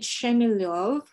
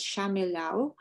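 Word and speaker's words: Shchemelev: Leonid Shemilov was in Belarusian, it should be pronounced as Shamilov, was born in the town of Vitebsk in 1923.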